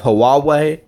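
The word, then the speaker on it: Huawei: they do actually more than GPSS we have hawawa that is how you pronounce it we have sony mobile communications but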